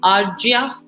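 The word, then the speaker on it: Arjya: first name is it arjia okay i was wondering whether the j was silent or not okay so we have professor arya with us from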